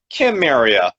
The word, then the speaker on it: Cimmeria: According to archaeologists, which in the video that I watched earlier today, they kept pronouncing it Kimmeria. But it was spelt Samaria.